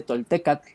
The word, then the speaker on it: toltecatl: Acá era lo mismo, tolteca significa que tiene la raíz toltecatl, que acaba con A-T-L, porque así se pronuncia realmente, toltecatl, viene de la raíz a agua, ¿no?